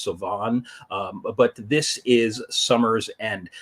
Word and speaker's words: Samhain: seen this word before, which people tend to pronounce as Samhain, which is reasonable considering the pronunciation, but no, it is actually pronounced as Samhain.